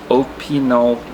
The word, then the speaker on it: Opinel: and talk about uh opol knives which is the correct way of pronounce pronouncing I had the shop clerk pronounce it a few times to make sure I had it right but let's talk about